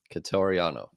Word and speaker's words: Quitoriano: Quitoriano.